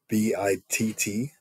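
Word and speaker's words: BITT: of those was the b-i-t-t uh I guess you just pronounce it as bit right but that is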